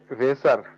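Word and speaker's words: Wasser: এস এ এর এল কি হচ্ছে এটার হুম ভেসার ভেসার কেন এটা কি এ এর উচ্চারণ কি হয় আনা তাহলে হচ্ছে ভা প্রথমে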